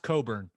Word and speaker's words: Cockburn: It's pronounced Coburn, but it's spelled Cockburn.